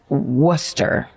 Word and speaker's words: Worcester: She disappeared in November of 1973 um on her way to visit her grandmother in Worcester. If it's if it's the Boston pronounced worster.